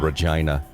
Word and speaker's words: Regina: close to that area called regina rhymes with vagina question number two i